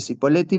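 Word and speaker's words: Cipolletti: Está Chipoleti. Acá los nativos le dicen chipoleti, pero se escribe sipoleti, así que yo no sé por qué me resulta fácil y simple decir cipoleti, pero los sipoliteños le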